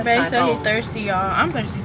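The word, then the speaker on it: açaí: But I'm going to just give me a sahi bowl. I think that's how you say it. Asahi bowl. Yeah. I think it's acai. Acai bowl.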